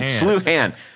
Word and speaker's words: Sluhan: Sincerely, John Sluhan, pronounced like St. Louis University's abbreviation of SLU and Han, or Han, Ham, like ham with an N. Han, Sluhan. I should have read that ahead of time to make sure.